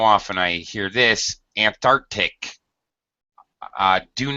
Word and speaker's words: Antarctic: And it is pronounced as a hard C, a K sound. Antarctic.